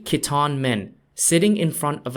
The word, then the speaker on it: Khitan: The Liao Dynasty was ruled by an ethnic group called the Khitan, spelt Khitan, and is pronounced Qidan in Chinese.